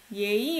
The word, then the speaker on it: 예의: 난 예의 없이. 예의 없이. What's that? Look up the noun 예의. So you have to pronounce 의 here. It's not possessive 에. This is 예의.